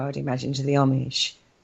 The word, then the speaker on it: Amish: Very similar, I would imagine, to the Amish. How do you say that word? Amish. Amish. Amish. Like it's like an O, isn't it?